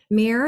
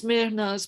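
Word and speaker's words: Mehrnaz: Mir, is that how you say your name? My name is Mernaz, but it's difficult for people to Yes.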